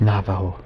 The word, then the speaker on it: Navajo: Navajo.